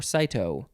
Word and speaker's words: cyto: Is it pronounced cytology? Yes, it is. So it's cyto.